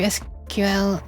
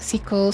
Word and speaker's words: SQL: she was ning earlier I cycle through SQL sequel squirr squirrel and possibly others I need to remember